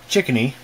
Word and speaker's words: Chicony: a look inside of it this is a chickeny that's how you pronounce the brand name it's made for hp